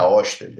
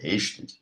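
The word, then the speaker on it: Ørsted: Então a pronúncia dele não é Osted, é Rested.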